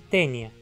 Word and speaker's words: tênia: nome do reino plante a sequência Alpha iota em grego como em tenia fita e adaptada geralmente como a e em latim e pronunciado assim tênia e empréstimos de línguas